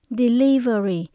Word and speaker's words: delivery: ta có thể delivery các bạn nhớ mình nhấn âm số 2 ha Mình đọc là đi Ly very delivery Đây là một danh